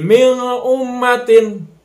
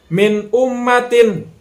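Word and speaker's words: مِنْ أُمَّةٍ: salah atau didengungkan jadi mi ummatin Nah itu juga salah Jadi dibacanya harus jelas antara Nun bertemu dengan alif minum matiin nah di sana cara membacanya saya cara membaca yang benarnya minum matiin Kemudian yang kedua hai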